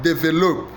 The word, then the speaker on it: develop: In the word develop, stress falls on that. Develop. Develop. The answer is B. Develop. Develop.